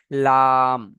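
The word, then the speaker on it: ل: আচ্ছা, 8 নম্বর মাখরাজ হলো, জিভের আগার কিনারা এবং সামনের উপরে দুই দাঁতের গড়ার সাথে লাগিয়ে উচ্চারণ হয় লাম।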